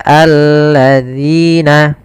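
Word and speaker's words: الذين: harakat kemudian Sabat Quran hati-hati di dalam pelafalan dalzalnya dalal di sini agar dia terbaca dengan baik itu dengan ujung lidah kita kita menempelkan dengan Gigi Sari atas dza dzi Maka alladzina hati-hati jangan terbaca dengan alladzina ini kesalahan yang sering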